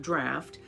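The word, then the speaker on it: draught: is a tricky word it can be pronounced like draft and one meaning of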